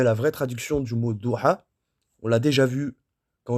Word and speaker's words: Doha: Doha, ça s'écrit comme ça, hein, comme vous le voyez ici. D'accord? Doha. Mais en fait, ça se dit Doha.